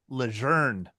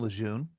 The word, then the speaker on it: Lejeune: his Louisiana heritage and French last name, which he pronounced Lejeune. Brad? Who is John A. Lejeune? Who is John A. Lejeune? Why do the rest of us call him Lejeune? It's just easier to say.